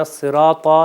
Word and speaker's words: الصراط: یہاں پر ملاحظہ کریے اہدنا الصراط، یہ وہی طا ہے جو ابھی ہم نے آج کے سبق میں سیکھا ہے کہ جو کہ موٹا تلفظ کیا جائے گا.